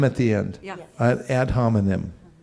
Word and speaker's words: ad hominem: So ad hominem, I got it from the Wikipedia. Spell it.